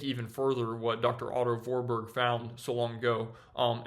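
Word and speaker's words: Warburg: that Dr Otto vorberg his name is actually pronounced vorberg even though it looks like warberg um Dr Otto vorberg literally found this almost a hundred years ago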